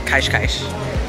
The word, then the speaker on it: Cascais: through our first day in kaishkaish learn how to pronounce it anything with the S on the end of it is a sh sound unless it has a vowel afterwards so I've learned that